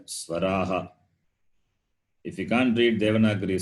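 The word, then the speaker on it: स्वराः: Swaraha. You have to read like that. Swaraha. The H is Swaraha. Ha sound.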